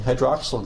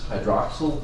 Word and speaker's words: hydroxyl: Don't ask me why the first once sounds like this, hydroxyl group, kinda with a short sound, and this one says carbonyl, with a long E sound.